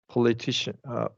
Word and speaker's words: politician: We haven't covered syllables, but when it's politics, when a verb ends, a word ends in IC, the syllable before will get the emphasis. Politics, political. In this one is politician, right?